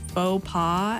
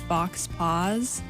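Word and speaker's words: faux pas: i would say is i had a teacher who would pronounce beau paw as fox paws and she was just adamant that that's how it said and it was like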